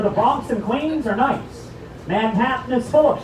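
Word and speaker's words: gneiss: No, really, G-N-E-I-S-S, scientific name pronounced nice.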